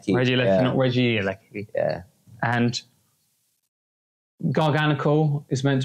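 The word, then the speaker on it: Regieleki: just said the same thing twice apparently it's pronounced Reggie Lecky Reggie Lecky yeah and garganicle is meant to be garganic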